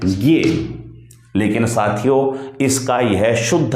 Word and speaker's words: ज्ञ: यह वास्तव में क्या है, यह ज और ये के संयोग से बना है, इसलिए इसका उच्चारण होना चाहिए जे। इसका सही जो शुद्ध उच्चारण है वह क्या होगा, जे।